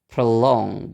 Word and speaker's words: prolong: o-nya itu enggak distes Berarti stresnya ada di suku kata yang kedua stresnya ada di long-nya Jadi kita pakai pola yang Nana tadi bacanya jadi prolong gitu prolong nah kata yang